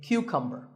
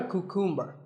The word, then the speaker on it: cucumber: couple of vegetables now this is a cucumber it's not a cuckoo mer think of it like saying the letter Q and then cumber like number